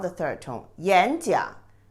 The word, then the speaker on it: 演讲: When two third tone characters together, you always pronounce the first character, the second tone, not the third tone. 演讲, not 演讲.